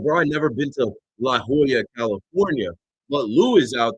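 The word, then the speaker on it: La Jolla: Dude called up just as like right after I I called it leola. Now I know it's Hoya that he called up to be like, "Oh, uh, you can't pronounce regular things because you don't have education."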